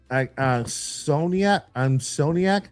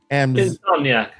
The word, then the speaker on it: Insomniac: Getting some action from Soniac. I don't know how to pronounce their name. Soniac, is it? Insomniac. Insomniac. Like the not being able to sleep.